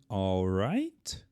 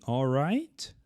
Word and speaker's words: all right: Nós simplesmente não pronunciamos. Por isso que a gente fala good night, good night, boa noite, ou ainda good night. Então aqui a pronúncia everything all right.